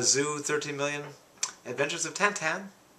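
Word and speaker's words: Tintin: 13 million adventures of tantan i insist on the french or shall i say belgian pronunciation uh 11 million um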